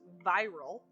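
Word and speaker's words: Vyrelle: name wrong this whole time I believe it's pronounced viral uh v y r e l l e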